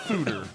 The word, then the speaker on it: foeder: The world is full of strange mysteries, and we'll explore more of them, including some either Foeder or Feeder-Aged rice lager. OnStark says pronounced Foeder.